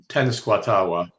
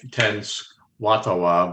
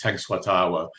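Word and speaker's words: Tenskwatawa: Uh tenuatawa. Occasionally I' I've heard it pronounced ten tenatawa but it's tenuatawa.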